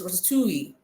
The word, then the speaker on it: ratatouille: It's not pronounced in the English context. It's pronounced in French. That is why it is ratoui.